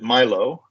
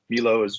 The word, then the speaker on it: MILO: We pronounce it MILO. MILO works just fine as well, but and there's an